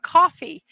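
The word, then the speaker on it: Ko-fi: You can buy me a cup of coffee. I've been pronouncing this Kofi. I'm going to now change it to coffee at Mrs.DadmanWalking55, or you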